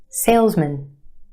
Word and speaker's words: salesman: Put it in this word and it becomes mun. Salesman.